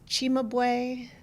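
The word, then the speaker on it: Cimabue: Um, so this started with the artist Chimabu, that's c I m- a bu just because Italian pronunciation is a little bit different, in the 13th century, and going up to his own day.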